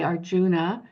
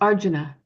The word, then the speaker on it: Arjuna: have those sounds and so we might say Arjuna but it's Arjuna and so he puts the syllable on the correct um syllable and you